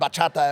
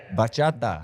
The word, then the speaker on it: bachata: Bachata. No, bachata. Like, say it a little quicker. Like bachata. Bachata. Say it like you mean it. Bachata. Put your hip into it when you say it.